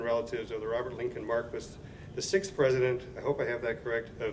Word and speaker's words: Marquis: of the 125th anniversary we're saying Maris who doesn't know that it's called The Marquis building I I didn't know Marquis I think we've mispronounced that for many years but from this day forward we will pronounce it correctly uh our appreciation again